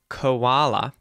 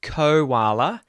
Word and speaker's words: koala: Now you may notice there the o in the word koala is actually a schwah sound. So you're going to hear uh uh right that neutral vowel sound in English. Koala. So it's not kala, it's koala.